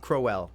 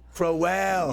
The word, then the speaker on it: Crowell: no it is yeah everything except the how you pronounce my last name it's crowell crowell yeah i like that